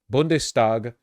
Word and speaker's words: Bundestag: The ST equals SHT is only in the beginning of the word. Oh. Bundestag, but if it was like the begin, it'd be like Stagenfreude.